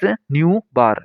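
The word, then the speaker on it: ν̄: अब इसके बाद में यहाँ पे एक नोट दे रखा है, wave number is pronounced as न्यू बार। न्यू बार इसे पढ़ा जाता है।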